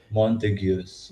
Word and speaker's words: Montagues: Montagues. This is Montagues. it's a strange words because they're actually Italian words, Italian names, but we have special English pronunciations for the Italian names.